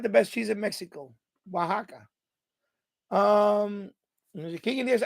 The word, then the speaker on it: Oaxaca: deal you know and it's a place called Oaxaca that's how you pronounce it Oaxaca right even though it's spelled differently that's how